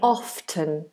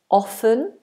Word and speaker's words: often: pronounce the T in often the answer is in standard British English you can pronounce it either way you can say often often or you can